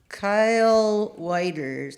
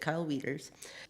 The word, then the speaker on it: Kyle Wieters: that song come from a friend of mine Kyle whiters no weeders that's how you say it Kyle Wieters I was down in